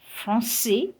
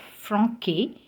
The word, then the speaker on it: français: So we have français instead of franquet, garçon and not garcon, reçu and not reçu.